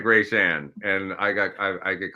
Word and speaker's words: Reyshan: Reyshan. Reyshan? Okay. Just say it fast. Say it like Russian.